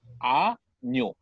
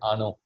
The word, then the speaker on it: año: play the pronunciation, but this is how it's pronounced. Año. Año. Año. Yeah. Oh, the Or is tilde there a was pause? missing. Okay. No, the apostrophe kind of thing over N was missing when you typed Ano.